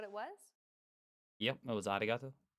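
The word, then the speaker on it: ありがとう: romanized yeah right exactly this character isn't is announced using an English R sound at all it's like a mixture between an r and an l sound the there's no such sound in English but most people would transcribe this using the letter R because that's the closest equivalent there is in English pronouncing it like an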